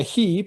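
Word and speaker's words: היא: 히 발음이 히겠죠.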